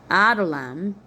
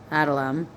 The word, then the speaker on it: Adullam: At that time, Judah left his brothers and went down to stay with a man of Adullam named Hira. Adull, like a duel, right? Lam, Adullam, named Hira.